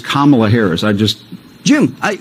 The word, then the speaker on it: Kamala: this jackass CNN say why do you say Kamala instead of Kamala it's Kamala that's all he has to